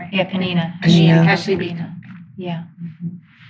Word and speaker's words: Peninnah: So has she become Peniel? Yeah, or did I say it right? Yeah, Peninnah.